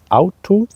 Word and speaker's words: Auto: we have a car car in German means out to and this article is D so it's neutral